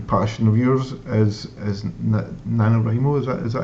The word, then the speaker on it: NaNoWriMo: Now you kind of mentioned it briefly earlier on, but I know another big kind of passion of yours is NaNoWriMo. Is that how you pronounce it?